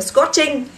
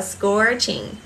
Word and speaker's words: scorching: Or scorching, scorching. Và âm ing này thì nó không nhận trọng âm nên không đọc là scorching.